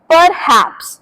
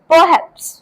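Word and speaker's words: perhaps: Next is परहैप्स। अब इसमें जो आर लेटर है वो साइलेंट है। सो आपको बोलना है परहैप्स। परहैप्स नॉट परहप्स।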